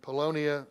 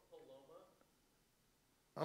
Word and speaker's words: Paloma: We want to update you on the names of Pam McCarthy and Polonia Schuler. Am I pronouncing that right, Matt? It's Paloma.